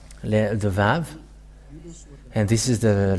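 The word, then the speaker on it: ו: So here is the letter Vav. The Vav. And this is the letter Vav. This is the Vav. The way to read this is V as in Vag.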